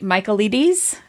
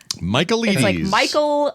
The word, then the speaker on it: Michaelides: Michaelides? Michaelides. and then Ides. So like like The Ides of March. So like but it's I think it's pronounced Michaelides.